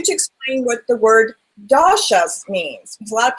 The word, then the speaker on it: doshas: and for you to explain what the word dasas means because a lot of people have no clue that means and I probably didn't even say it right no you said it perfectly that it's called doas so that is the fundamental difference Carly between